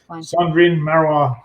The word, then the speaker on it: Cendrine Marrouat: But if that's the case, then I'll have to use, and I'll never be able to pronounce it, so maybe that won't work. But Cendrine Marrouat.